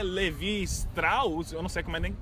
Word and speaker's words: Strauss: E a calça é Levi Strauss. Eu não sei como é que pronuncia o sobrenome Strauss, dele.